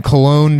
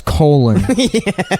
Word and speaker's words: Cologne: Anyhow, so we're watching the one where, I guess they were in Cologne, Germany, Yeah. and which one of them pronounces as colon.